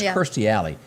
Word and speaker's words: Kirstie Alley: This is I don't know what to say about this, but and you pronounce her name, I think, Kirstie Alley. I used to say Christy all the time, but it's Kirstie Alley.